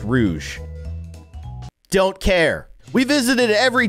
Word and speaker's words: Rouge: say to her also I'm gonna keep calling her Rogue even though it might actually be pronounced Rouge don't care we visited